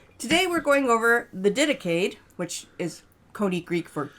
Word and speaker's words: Didache: And the word Didache, or it's fun to mispronounce it, Didache. Don't do that.